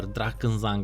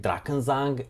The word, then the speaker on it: Drakensang: mainly in German, and I make it a point to try my best to pronounce things in their original language if I can even remotely pronounce it.